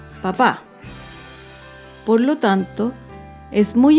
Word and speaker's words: papá: ortográfico en este ejemplo la primera palabra papá no tiene tilde y el acento está en la primera sílaba con la segunda palabra papá tiene tilde que indica que el acento está en la última sílaba papá por lo tanto